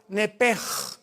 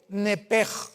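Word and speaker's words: נפש: En el hebreo se pronuncia la sh como j. Nepej es la palabra alma en hebreo. Nepej.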